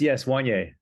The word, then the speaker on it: Wannier: Wannier? Did I say it right? Yes, Wannier.